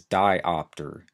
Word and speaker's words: diopter: that a refractive error the next term is diopter dio PT R and A diopter is a